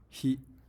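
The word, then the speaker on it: 火: with just a pencil or a pen the pronunciation of this character is he and he means fire now here's an interesting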